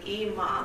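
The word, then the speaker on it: 今: And now I'm a reverend.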